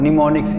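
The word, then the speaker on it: mnemonics: The short phrases which are used in assembly language are called निमोनिक्स। M silent है इसमें ना।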